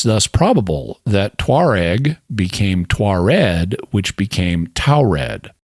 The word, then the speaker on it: Tuareg: They're a Berber people, and notice how their name is spelled. Tuareg. It's the same as Taured, except it ends in a G rather than a D, and both D and G are similar sounds. They're both voiced consonants, and all you do